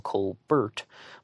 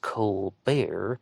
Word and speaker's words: Colbert: in a previous episode i refer to him as cole burt but i heard on drew beason's channel that it's pronounced cole bear and you know i